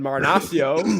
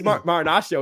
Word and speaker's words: Marinaccio: Shout out Ron Marinaccio. Is it? It's Marinaccio. We keep saying Marinaccio instead of Marinaccio, right? Like a nacho.